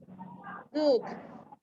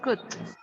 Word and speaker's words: cooked: But if you say cook, Maria, you pronounce the verb in the base form. It's cooked. Cook. Remember, Maria, cooked. Okay. Yeah, exactly. Yeah, we need to emphasize the D, the D.